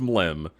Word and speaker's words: Mlem: The Mega MLM Marathon, it's pronounced Mlem.